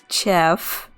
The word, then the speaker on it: chef: El chef, yes, that's how you pronounce chef in Spanish, a more hard ch sound. So, el chef cocina excelente.